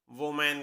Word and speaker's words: women: इसकी सही प्रोनाउंसिएशन है वुमन, वुमन, जिसका मतलब होता है एक स्त्री, एक महिला। नेक्स्ट WOMEN, इसकी सही प्रोनाउंसिएशन होती है विमिन, ये वोमैन नहीं है, इसकी सही प्रोनाउंसिएशन है विमिन, विमिन, और मीनिंग है महिलाएं।